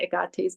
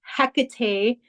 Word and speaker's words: Hecate: And if you're familiar with Agate, some people know her as Hecate, but the true pronunciation is Agate because the H is silent in Greek, and she is a Greek goddess.